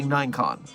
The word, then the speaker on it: Ninecon: But if I'm only going to say it for short, I should say Ninecon. So, it's either the 9K contest or Ninecon. This is a site 42 correct pronunciation that no one else can argue with me about because I'm the site director.